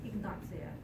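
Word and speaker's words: Ignatia: It is pronounced Ignacia because it is Latin.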